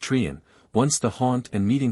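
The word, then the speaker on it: Treryn: of rocks known as Castle Trin pronounced trian once the haunt and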